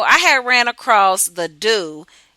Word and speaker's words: Doux: So it's the doux, the DOUX, doux spelled like do.